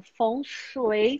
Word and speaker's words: Feng Shui: Feng significa vento. E aí a pronúncia, quando a gente vai falar bem certinho, como os chineses, a gente fala Feng, como se fosse o som do vento. E Shui significa água. Então, imagina o som de uma cascata. Então, Feng Shui seria uma das pronúncias mais corretas.